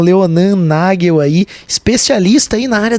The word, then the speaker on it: Nagel: Nós estamos de volta com o Pulso Empreendedor, o seu programa de empreendedorismo, hoje conversando com o Leonan Nagel. É assim que pronuncia o sobrenome? Nagel?